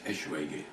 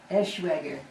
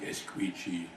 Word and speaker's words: Eschwege: But I'm sure you can pronounce it. It was Eschwege, Eschwege. it's actually a town in Germany. Uh-huh. And when I was in the army, they called me all sorts of names, like Esqueechy, Squeechy.